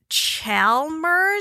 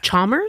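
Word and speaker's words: Chalmers: what is known as chelmer street I'm probably not pronouncing that right but it's c h a l m e RS chers chers Street probably so this particular little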